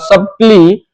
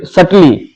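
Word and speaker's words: subtly: then again he believes that IC hatred एलबिएट मोर सबली एंड सली sorry सली यहां पे बी साइलेंट है मोर सली एंड ग्रेजुअली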